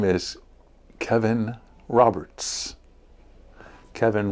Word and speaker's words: Kevin: Kevin rhymes with heaven.